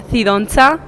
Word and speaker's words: Cidoncha: My last name is pronounced Cidoncha. Cidoncha?